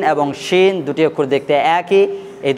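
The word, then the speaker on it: شين: যদি নোক্তা না থাকে তাহলে আপনাকে পাতলা করে উচ্চারণ করতে হবে দন্ত স দিয়ে, যেমন সিন। আর যদি নোক্তা থাকে অপরে 3টি তাহলে আপনাকে মোটা করে উচ্চারণ করতে হবে তালবির স দিয়ে, যেমন আমরা উচ্চারণ করেছি শিন।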